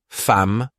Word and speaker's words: femme: Par exemple, femme, on dit femme, beaucoup, on dit beaucoup. Il parle, on ne prononce pas le han.